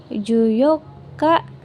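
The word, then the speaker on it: 十四日: Eh, ini dibacanya juyoka. Ini hatsuka, ini nijuyoka. Jadi, tidak memakai ni ci ya, minasan.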